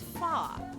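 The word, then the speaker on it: pho: is it called f what is the proper pronunciation of pH h o it's that it's that noodle soup with the meat in it I quite enjoyed it the second one so it's far oh thank you SN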